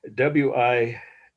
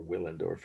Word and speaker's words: Willendorf: The last word is Willendorf, or if you pronounce in German, it's W's pronounced like a V, as you may know. Ich spreche ein wenig Deutsch. Willendorf. Woman from Willendorf, or Willendorf if you prefer.